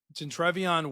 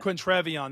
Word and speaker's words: Quintrevion: Gentrevion Wisner or Quintrevion, that's what it is.